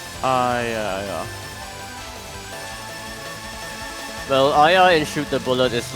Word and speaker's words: Aya: Oh, is her name pronounced differently than what I'm saying? No, it's Aya.